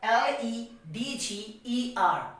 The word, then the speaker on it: ledger: now the third example we have is what l e d g e r later not literal it is what ledger now